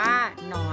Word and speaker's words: หนอน: เสียง หอ หีบ นำ นะ คะ อ่าน ว่า หนอน ค่ะ อ่ะ ดู ตัว อย่าง คำ อักษร นำ